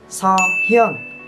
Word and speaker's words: Seohyun: Không có vậy nha. Đọc là Seohyun.